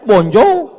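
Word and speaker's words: bonjour: Tulisannya bonow bacanya bonjo, bonsoir, bonsa.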